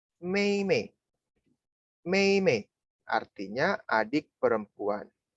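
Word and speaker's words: 妹妹: Nah, yang terakhir ini bacanya Mei Mei.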